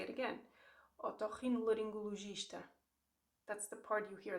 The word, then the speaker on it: otorrinolaringologista: Otorrinolaringologista.